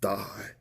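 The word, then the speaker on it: δεῖ: from 1163 and it's spelled d-e-i and it's pronounced die like this Strong's G 1163 die die die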